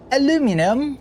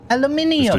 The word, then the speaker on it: aluminium: Aluminum. Oh, right. Okay. Aluminium.